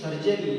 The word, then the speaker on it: surgery: He said, "It is not sugary. It is surgery. You are pronouncing it wrong."